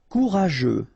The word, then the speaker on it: courageux: Courageux. Final X not pronounced, and then you get this U, E, and G plus E. After that it's je, so je, okay?